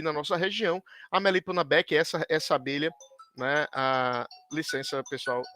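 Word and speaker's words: beecheii: Então, como por exemplo, aqui no Codex Maia, e da importância das abelhas, especialmente a Melipona beckii, né, ou beechey, como algumas pessoas né, pronunciam em inglês, né, a Melipona beckii, que é uma melipona extremamente importante para a cultura maia.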